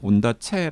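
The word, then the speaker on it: Ondaatje: 온다체 의 경우 , 스리랑카 에서 태어났기 때문 에 스리랑 카식 발음 에 따라 " 온다체 " 라고 발음 했을 가능성 이 있습니다 .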